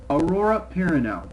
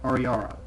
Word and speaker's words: Aurora Perrineau: Aurora Perrineau. I wanted to say it right. I've said it many times as Ariara.